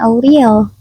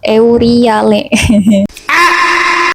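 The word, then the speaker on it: Euryale: Steno dan Auriel. Itu enggak sih bacanya Steno Euriel? Euriale.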